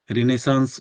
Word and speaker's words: Renaissance: रेनेसा का नाम सुना आप लोगों ने? नहीं सुना सर। रेनेसा को ही पर्यायवाची शब्द है नवजागरण। रिनेसांस बोलते हैं इसको, इसका स्पेलिंग ऐसे होता है।